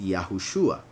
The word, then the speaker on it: Yahushua: name of mashiach and he's pronounced yahushua and the vibe doesn't sound as a vow as a consonant and it sounds as a vowel as it is confirmed